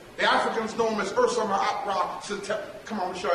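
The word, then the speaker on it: Usermaatre Setepenre: The Africans know him as Ursa Ma'at Ra Setepin. Come on, let me show you how to say it. Say Ursa Ma'at Ra Setepin Ra Metsu Meriam.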